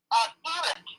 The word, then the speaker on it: Irit: Edith.